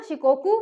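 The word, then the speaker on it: Shikoku: Honshu में आपको मिलेगा टोक्यो, उसके बाद आपको मिलेगा शिकोकू, जिसकी स्पेलिंग एस से है लेकिन ये शाह है ना, शिकोकू।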